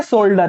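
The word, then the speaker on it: solder: तो सोल्डर किससे बनता है, सोल्जर अलग है, सोल्डर, ये वाला शोल्डर भी नहीं है, वो आर्मी वाला सोल्जर भी नहीं है, सोल्डर, सोल्डर लिड और टिन से मिलके बनता है, ध्यान रखना।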